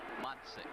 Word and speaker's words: Matsik: I I asked him uh on picture day just to get it straight how you should pronounce it. And he said Matsik. Matik.